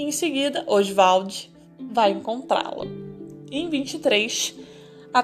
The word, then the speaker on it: Oswald: um nome, na verdade, ele gostava de pronunciar o nome Oswald, dessa maneira, Oswald de Andrade.